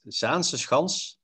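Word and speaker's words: Zaanse Schans: I would say it's Zandschans. But the S, C, and H together, like Scheveningen and Zaanseschans, is a real tongue breaker if you're not Dutch, okay.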